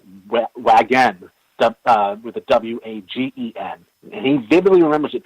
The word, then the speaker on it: Wagen: it's wagon, with a W-A-G-E-N. And he vividly remembers it being wagon, Volkswagen. My whole problem is that I used to own a Volkswagen. It's a German word. It's always been Wagen, not wagon, how this guy remembers it.